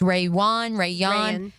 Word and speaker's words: Rayuan: I don't believe Caleb Ransaw or Rayuan Lane, how we determined it's pronounced, Rayuan Lane.